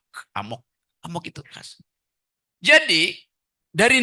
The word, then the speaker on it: amok: Bacanya mesti emak, amok.